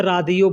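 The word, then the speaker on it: راديو: Radio को अरबी में रादियो बोलते हैं।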